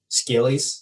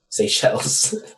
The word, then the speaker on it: Seychelles: Vincent, and the Grenadines, Scales, which is right off the coast of Africa. Right? Is that how you pronounce that? How do you say that? Seychelles.